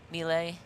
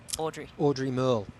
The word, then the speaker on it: Audrey Merle: She's at a minute back now, so 40 seconds for the French athlete, Millet. I'm saying that wrong. How do you say that, Crowe? Audrey Merle. That's right, Audrey Merle.